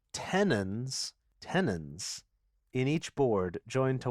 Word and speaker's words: tenons: Tenons, like Yeah. tendons, but not.